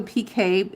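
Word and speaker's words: picot: It's called a PK. It's pronounced PK even though it's spelled PCOT.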